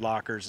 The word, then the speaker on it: Loc-R: Now, if you wanna go a step further, you can get something called a locker bar. I think it's L-O-C-R is how they pronounce it.